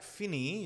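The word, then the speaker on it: Finney: third level by Jack फिनी या फिने जैसे भी आप प्रोनाउंस करना चाहते हैं इट इज डिबेटेबल बट जो भी है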